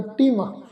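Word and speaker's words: ਤਿੰਮ: तिम तत्ते नूं सियारी उपर टिप्पी लगा के पाठ उच्चारण करांगे जी तिम।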